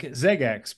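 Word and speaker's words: XeggeX: there it says PS it's pronounced like ZX but it's spelled x e g g x it's a pal we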